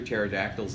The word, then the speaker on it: pterodactyls: why can't you hear pterodactyls in the bathroom because the P is silent I have kids what